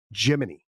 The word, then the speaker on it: Gemini: it is absolutely crazy, they didn't pronounce it Gemini. All the astronauts and all the ground control people and everything like that. If you go back and you like watch the documentary films on this, they all pronounce Gemini Jiminy.